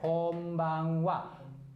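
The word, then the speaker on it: こんばんは: Kalau ini ha. Tapi kalau ini cara bacanya wa ya. Kalau ini saja ha. Kalau ada tanda kutip berarti jadinya be. Jadi babi bu bebo. Jadi ini cara bacanya konbanwa.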